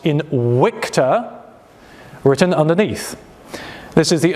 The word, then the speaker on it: Invicta: horse with the motto Invicta and it is pronounced in wicta written underneath this is